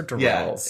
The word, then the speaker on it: Darrell's: Is it Daryl's or Darrell's? Yeah, it's Daryl's. But it's spelled like Darrell, but pronounced Daryl.